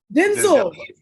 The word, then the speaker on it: Denzel: down yeah emotional no it's not Denzel what was it Denzel it's Denzel Denzel Washington Denzel we've been saying it wrong isn't that a pretzel